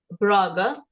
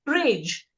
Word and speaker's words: Brage: But as he reread it, he felt that an English reader would pronounce Brage not as Braga, but as Brage.